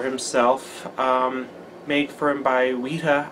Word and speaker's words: Weta: Paul McGann had just debuted the Dark Eyes sonic screwdriver for himself, made for him by Weta, I think that's how it's pronounced, W-E-T-A, Weta Workshops, so they were a prop-making company.